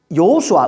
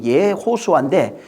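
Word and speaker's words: יְהוֹשֻׁעַ: 이 예수아는 사실은 그 구약에 보면은, 여호수아, 우리가 여호수아라고 읽잖아요. 근데 이제 원문에는 이게 예호수아입니다. 여호수아가 아니고 예호수아인데 이 예호수아로 예수아가 예호수아라고 하는 그 이름으로 예호수아라고 하는 이름에 대신 사용된 이름이에요.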